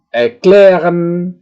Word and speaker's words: erklären: Di sini adalah penekanan pengucapannya itu berada di bagian yang saya cetak tebal di tengah, ya. Beginnen, erklären, verbessern, verlassen, verstehen, wiederholen, ya. Itulah, ya.